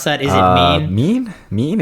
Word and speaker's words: MENE: Is it mean? Mean? It's like this company's mean mugging us, it's like right? meme without the second M.